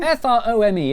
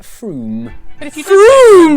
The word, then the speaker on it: Frome: sa iyong tren wro ng it's not from frome it should be blitheringly obvious it's pronounced froome don't worry you're in good company froome is